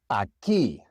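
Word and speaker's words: aquí: In Spanish, the combination q just sounds like a k. The u is silent.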